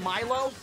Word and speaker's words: Milo: there's a nice cool it's pronounced Milo oh it's not me lo I keep saying Neil oh it's Milo I bad it looks